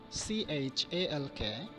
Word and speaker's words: chalk: For example, C-H-A-L-K, chalk. So here la sound, that is letter L, is silent.